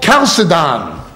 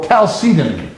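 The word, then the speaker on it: Chalcedon: church there was a council called cidan or Caledon different people pronounce it differently and they were reacting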